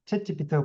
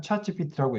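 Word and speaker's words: ChatGPT: 자, 그리고 아까 혹시 그 강의 들으실 때 중간에 재미나이가 얘기해 줬던 거 기억할지 모르겠습니다만은 우리나라 사람들은 챗 GPT라고 부르잖아요. 채치피트가 부르는데 어 미국에들은 차치피트라고 얘기를 합니다.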